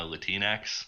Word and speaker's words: Latinx: I'm remembering when you talked about Latinx a little while ago. Yes. I mean, I never understood why people say it that way, Latinx, instead of like Latino, Latina, Latinx, like Kleenex.